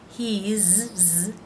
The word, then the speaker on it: he's: Now the apostrophe S for the word is in these three contractions is pronounced as a Z sound for he and she, and as an S sound for its. He's, Z sound, she's, Z sound, it's, S sound.